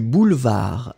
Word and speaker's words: boulevard: Oui, non, ça a l'air bien, vous écrivez bien, boulevard, donc n'oubliez pas, B-O-U-L-E-V-A-R-D. Un boulevard, le D final n'est pas prononcé.